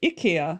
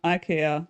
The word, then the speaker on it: IKEA: keys yeah and in in scandinavia it's ikia not ikea say if you want